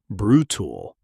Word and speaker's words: brutal: Pronunciation brutal. Two syllables. Stress on the first. The second syllable often reduces to a quick unstressed tool sound.